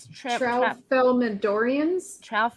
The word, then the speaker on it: Tralfamadorians: The Tralfamadorians.